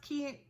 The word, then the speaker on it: Ki: It's Books and K-I. So I think it's pronounced Key.